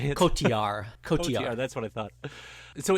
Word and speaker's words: Cotillard: Cotillard.